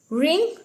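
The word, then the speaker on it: wring: वंड राइट road रिटन रिंग रिंग मतलब निचोड़ रिंग रंग रंग रिंग रंग रंग ठीक है डब्लू यहां पर साइलेंट रखेंगे इसको कोई रिंग वरंग वरंग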